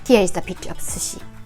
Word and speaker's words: sushi: and as you heard we say sushi just don't put stress on because when you put